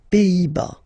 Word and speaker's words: Pays-Bas: Final S here, not pronounced. Same thing here. Pays, and then bas. Les Pays-Bas.